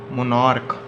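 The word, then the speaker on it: monarch: एस is added, अगर हम सी एच को प्रोनाउंस करें के पे, ठीक है, के, जैसे कि मोनार्क तो मोनार्चिस।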